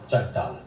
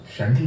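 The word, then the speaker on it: Chantal: sir shunt लेकिन spelling तो सीएच से शुरू होता है ना तो सी एच का मतलब होता है अच्छा चंटाल स्पेलिंग सी है सर लेकिन कहते है शांजल शांजित इट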